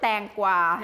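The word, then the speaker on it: แตงกวา: We call it tangwa. in Tangwa.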